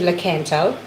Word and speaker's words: Lakanto: But if you want to check out my brand, it is the Lakanto brand. Well, I said Lakanto. I'm just over pronouncing the la in case it didn't come out on the microphone.